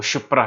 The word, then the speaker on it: शिप्रा: लेकिन ये गलत स्पेलिंग है, छिप्रा थोड़ी है, छिप्रा नदी नहीं है, छिप्रा नहीं है, वो शिप्रा है।